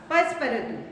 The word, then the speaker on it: Passepartout: ही एंड his Buttler, अभी मैंने बताया था ना इसका प्रोनाउंसिएशन क्या होगा? पसपरतु.